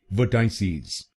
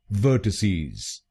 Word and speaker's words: vertices: कुछ लोग इस शब्द को गलत बोलते हैं, जैसे वर्टाइसीज। आप इस शब्द को कैसे बोलते हैं? चलिए जानते हैं इसकी सही प्रोनाउंसिएशन। इसकी सही प्रोनाउंसिएशन है वर्टिसीज। वर्टिसीज।